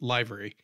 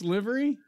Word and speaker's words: livery: it I think we one of us called it liary by accident I don't know I won't BL you I'm not um then I'll own it I I misspoke I'm an idiot I don't know I know better I know it's Livery yeah I like to